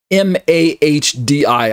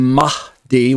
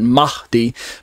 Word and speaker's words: Mahdi: M-A-H-D-I. I'm saying Mahdi, where there's kind of a breathy sound on the H part, Mahdi.